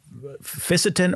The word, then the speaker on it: fisetin: Fisetin or fisetin, first off? I've heard it pronounced both ways.